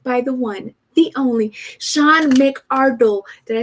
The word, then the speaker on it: Sean McArdle: I am joined by the one, the only, Sean McArdle. Did I say that right? You said it perfect. You like the way I broke it down? Sean McArdle. Yeah, we pronounced every syllable.